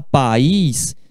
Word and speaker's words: país: país quando você fala país se pronuncia essas vagas em si levou a diferente país Ele país ex-grande Ele país rico quando você fala país se pronuncia duas sílabas pa país para aqui